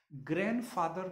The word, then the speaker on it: grandfather: ग्रैंडफादर में जब भी आप ग्रैंडफादर बोलेंगे तो डी साइलेंट रहेगा हमेशा, ग्रैंडफादर, ग्रैंडफादर नहीं बोलेंगे.